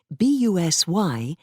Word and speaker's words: busy: from another for example b u s y is the spelling from one dialect but the pronunciation busy is from another from the 13th century English